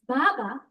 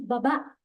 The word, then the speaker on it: baba: She said it wrong. She said baba, but it's supposed to be baba.